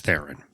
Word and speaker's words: Theron: Seth Rogen and Charlize how do you say her name Charlize Theron Theron or thier own I think she calls it Charlize Theron yeah I remember you